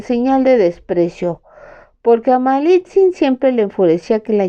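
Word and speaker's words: Malintzin: La única persona de nuestra raza con quienes estaban más ligados era con la mujer que se hacía llamar Malitzin, pero hasta su consorte Cortés invariablemente pronunciaba mal ese nombre que ella había asumido llamándola Malinche.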